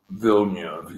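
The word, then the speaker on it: Villeneuve: Is it Vilner Nurv? Um, Vil Nurv.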